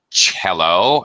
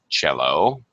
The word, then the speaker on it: cello: Um here we could see violin, viola, cello. This uh C is pronounced with a ch pronunciation. The cello, double bass and harp.